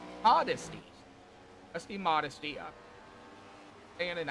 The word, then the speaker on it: Modesty: Rusty Modesty actually got his correct pronunciation to his name. He sent very nice message. So it's a Modesty.